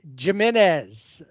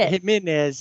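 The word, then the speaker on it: Giménez: No, it's not Jimenez. It's Jimenez. Yeah, if it was Jimenez, it would be an a J.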